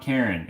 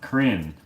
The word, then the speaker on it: Karen: necessarily uh we'll see my name is not karen it is pronounced crin oh it's spelt like karen but not so that's